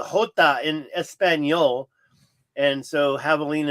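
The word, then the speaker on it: javelina: So, it's pronounced Havalina because the J is a hot in espanol. And so, Havalina is pronounced without the J. It's a half h.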